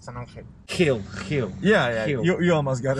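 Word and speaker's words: San Ángel: In Spanish, the G in Spanish, when it's right next to an E or an I, it's pronounced like an H in English, like San Angel.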